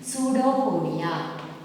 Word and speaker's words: pseudopodia: P is silent here, children. Pseudopodia.